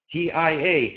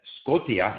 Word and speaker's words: Scotia: T-I-A to him was Tia, Scotia. I almost had the impression he resented the fact that in English, the spelling system was so irrational. And so he would resist the fact that Scotia, in fact, was pronounced Scotia.